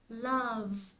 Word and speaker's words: love: cái từ yêu á Mình đọc là Love love đó Mình đọc love chứ mà không đọc là lớ lớ lớ lớ ha love là tiếng tiếng